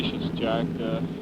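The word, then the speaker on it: Seixas: the junior I can take care of but how about the other how do you pronounce it well I'd say she's Jack just like spacious without the feet the mighty famous name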